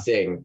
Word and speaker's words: Singh: and please correct me if I say their name wrong. Singh. Yeah. Singh, thank you.